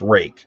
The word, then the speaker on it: Ruike: But it's pronounced rake, but that's how it's spelled, and so I mean it doesn't make any sense at all.